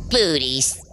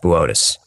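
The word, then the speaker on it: Boötes: Booties. Bootes. It says booties on the teleprompter. It's pronounced Bootes.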